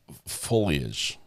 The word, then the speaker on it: foliage: The foilage is gorge. Did I say it right? Foilage. Greeners. You're you're mocking me in your The foilage. It's foliage, right?